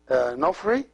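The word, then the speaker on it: ⲛⲟϥⲣⲓ: So the word Nofri is 2 syllables, Nof and Ri.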